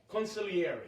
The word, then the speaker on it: consigliere: Consigliere.